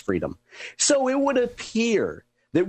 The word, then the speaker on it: Friedheim: It's spelled Friedheim. I believe it's pronounced Freedom.